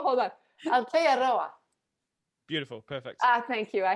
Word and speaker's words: Aotearoa: I think you add a syllable. I think that's what's adding a syllable. I'm adding a syllable. Hold on. Aotearoa.